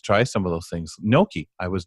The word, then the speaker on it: gnocchi: Gnocchi. I was not really a gnocchi eater till I did a Blindsided piece.